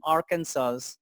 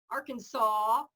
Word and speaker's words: Arkansas: not very fair because Arkansas is not an English word. Huh. It's a Quapaw Indian word. Is that right? Yeah. Okay. So if you can remember that it's from the Quapaws, Arkansas. Arkansas.